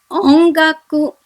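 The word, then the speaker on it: 音楽: Now we here have ki after n, and so we have to pronounce this word as tanki, tanki, which means weather. My second example is ongaku, ongaku, which is music.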